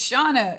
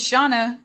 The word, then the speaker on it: Shana: thank you for asking it's shawna yeah am i hearing it wrong it's shauna that's what they're saying okay okay thank you